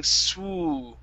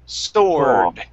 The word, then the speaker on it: sword: You're going to an oo after that S, saying swoo. Instead of swoo, it's so. Open that mouth up. So. Sore. Sword.